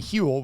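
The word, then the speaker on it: Huel: give you a complete nutritionally balanced meal and hule which is spelled hu L is the world's leading Complete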